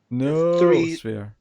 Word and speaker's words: noosphere: It's Noosphere. Noosphere. Or the Noosphere, because it's 3 syllables.